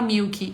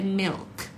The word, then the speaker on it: milk: de leite gente porque todo mundo fala Milk e não é Milk é é Milk Milk né a língua sobe um pouquinho no L ó Milk e o